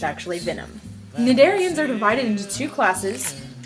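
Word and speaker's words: Cnidaria: news jellyfish come from the phylum nedaria spelled with silent sea and animals in this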